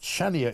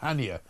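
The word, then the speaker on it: Chania: I'm told also that Channia in Cree is pronounced Hania.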